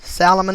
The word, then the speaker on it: Salomon: 11 2001 was the 47-storey salomon brothers building salomon is spelled s-a-l-o-m-o-n the solomon brothers building building seven